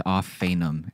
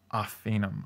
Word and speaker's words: Ophanim: It's Ophanim is how it's pronounced. Ophanim.